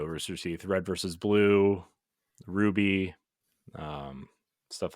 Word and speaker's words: RWBY: Red versus Blue, Ruby, stuff like that. So shout out to Rooster Teeth. Is that how you pronounce that? Ruby? Yeah, RWBY. It's Ruby. Yeah.